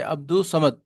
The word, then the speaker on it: عبد الصمد: ادا کیا جائے گا جیسے عبد الصمد، اور لام کی آواز ساکت ہوگی، الف لام جو ہے نہیں پڑھا جائے گا۔ حروف خمری ہیں، الف